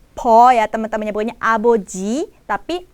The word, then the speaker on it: 아버지: Cara pelafalan dan pengucapannya po ya teman-teman, nyebutnya aboji tapi apoji yang berarti ayah.